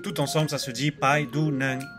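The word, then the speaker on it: ไปดูหนัง: avec un G à la fin, mais qu'on prononce jamais très fortement. Donc tout ensemble, ça se dit Pai Du Nang, Pai Du Nang.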